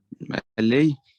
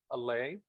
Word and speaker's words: allay: Allay. Yeah, but take care of the letter L. It's strong sound. So allay, allay, Allay. allay, yes.